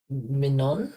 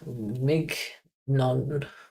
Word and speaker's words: mignon: The GN in French is pronounced the same as the N in Spanish.